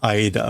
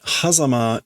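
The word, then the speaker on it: 間: So this is the usually the kanji for aida which is like interval. So this I would normally have said the space between reality and dreams but hazama is a maybe just like a fancy pronunciation.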